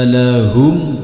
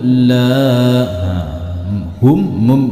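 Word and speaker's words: لهم: Wa idza qila lahum la, hum mim matinya tidak boleh dipantulkan serta tidak boleh didengungkan. Contoh dipantulkan lahum, tidak boleh. Contoh didengungkan lahum la, tidak boleh.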